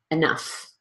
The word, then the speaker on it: enough: on - enough enough so notice that first syllable there even though it's spelled with an E it's really a completely unstressed syllable so we're going to use the of or the schwa or the unstressed vowels so don't emphasize that syllable really rush through it and then you can